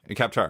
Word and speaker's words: Kaptara: Because take, Kaptara, or did I pronounce that right? Kaptara. Okay. Sure.